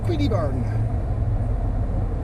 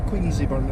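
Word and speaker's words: Queenzieburn: I'm now in a lovely little place called Queenieburn, or Queensieburn if you want to mispronounce it and put the Z's in it.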